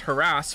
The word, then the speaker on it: harass: some mothers do aom pronounced harass with the emphasis on the second syllable now according to the